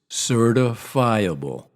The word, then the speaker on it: certifiable: Most people pronounce this word as if it were 2 words. Certifiable.